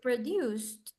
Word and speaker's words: produced: produced suena con una T al final. No sé si lo han escuchado cuando alguna persona americana lo pronuncia o alguna película. No es produced, produced, Produced. produced, produced. It's with T.